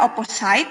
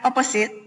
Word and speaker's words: opposite: nah yang ditebali opposite ini bacanya tidak opposite but opposite opposite above near and below